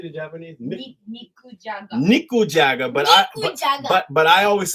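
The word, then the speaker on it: 肉じゃが: Nikujaga.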